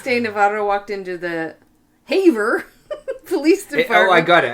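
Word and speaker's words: Havre: know how they fren how would they pronounce it in Montana yeah in French it would be a but in Montana Haver Haver yeah maybe ha okay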